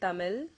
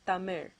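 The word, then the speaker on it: தமிழ்: the l sound so they instead say tamil or palam or walai you know i mean it's okay you can live with that but the correct way of pronouncing it is tamir another word is the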